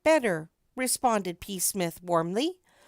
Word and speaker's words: Psmith: The name is Psmith. P. Smith. The P is silent.